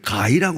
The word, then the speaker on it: 개: 그보다 더 재미있는 얘기가 하나 있습니다.이 북한에서는 개라고 하지 않습니다. 개를 가이라고 합니다.